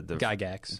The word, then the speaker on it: Gygax: And if you don't do that, then you have to posit that like Tolkien and Gary how do you pronounce the Gygax?